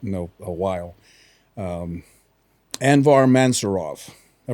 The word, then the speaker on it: Anvar Mansurov: people I've met in a a while um anvar mansurov I pronounce that right yes sir um he asked